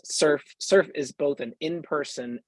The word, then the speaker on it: SRF: summit for Religious Freedom uh srf pronounced surf surf is both an